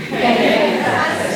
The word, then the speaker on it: Kaffe Fassett: And so if you want to say his name, think Safe Kaffe, and there you go. That's how you can remember, and you can correct your friends if they say it wrong.